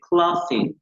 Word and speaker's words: clothing: Prendas de vestir o vestimenta en inglés se dice clothing. Clothing. Utilizando el fonema contenido en la TH. La TH en inglés se pronuncia juntando la lengua con los dientes superiores.